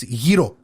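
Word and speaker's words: gyro: says firehouse the chicken euro sub is that how you say it it's hiro we still have to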